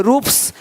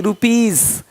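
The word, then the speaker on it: rupees: पी, टी आदि वर्ण हो तो एस का उच्चारण सा होता है। जैसे कि यहाँ पे रूप्स, यहाँ जा साउंड नहीं आएगा, लेकिन यहाँ पे एक्स नहीं एग्स। हीरोज, हीरोस नहीं, देख रहे हो, रुपीस नहीं रुपीज, ज का साउंड आ रहा है हल्का सा।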